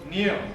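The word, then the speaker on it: Neal: His name, rhymes with wheel. Neil.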